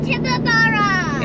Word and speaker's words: Tibooburra: We're going to Tibooburra. Excellent. Very good pronunciation, mate.